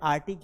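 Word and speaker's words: Arctic: वो क्या है? आर्टिक है। ये सी को उच्चारित नहीं करना है।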